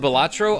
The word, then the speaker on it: Balatro: Opinion on Balatro?